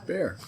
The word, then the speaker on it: Baer: Did I pronounce Bear right? Bear.